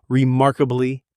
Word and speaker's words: remarkably: A remarkable achievement, remarkably talented. Pronunciation, four syllables. Remarkably, the stress is on the second syllable and that R sound in mark should be strong and American really let your tongue curl back.